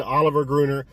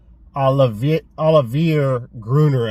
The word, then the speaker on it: Olivier Gruner: I said Oliver Gruner. I like saying Oliver Gruner. It's much easier. It's kind of a weird name. Olivier Gruner, I think, is the correct pronunciation.